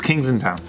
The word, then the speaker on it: Kensington: Yeah, think about Kings it. Kings in town. He tried to troll you with the wrong pronunciation, then he couldn't handle it, and he just was like... That's the real one, it's Kings just in town.